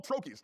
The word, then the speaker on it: trochee: I asked, but I don't know how to pronounce it. So I think it's trochee is what I think it is.